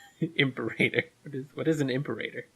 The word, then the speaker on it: Imperator: It says Imperator. What do I know? Did they change their name, maybe? Oh. I just write these things. I don't read it. Imperator Furiosa. No. Oh, wow, I'm saying it wrong. Yeah, Imperator. Imperator. Okay. If I had it in front of me, Imperator.